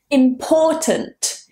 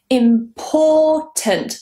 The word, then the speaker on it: important: Important. Important. The stress is on the second syllable.